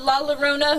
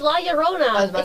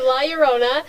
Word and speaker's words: La Llorona: him never you have la la rona who's a dangerous it's no it's la llorona spanish why'd you say it